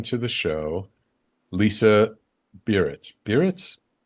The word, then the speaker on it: Biritz: Barnett? Yeah, Barnett. You pronounced it just right.